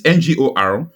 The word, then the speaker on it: Ngokpala: Ngokpala is Ngorokpala.